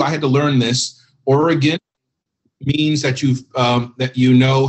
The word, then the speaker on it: Oregon: Oregon means that you know how to pronounce Oregon. Oregon means that you're from out of town. So Oregon, I had to learn that myself.